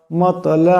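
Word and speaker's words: مطلع: লাম জের ইল মাতলা ইল ত এটি কলকলা হরফ আওয়ার সাথে কলকলা করিয়া পড়বেন মাত মাত এমন শব্দ হবে ফাজর ফা জিম জবর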